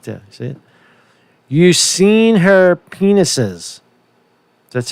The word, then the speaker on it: Yersinia pestis: Yersinia pestis. That's how you pronounce that, right?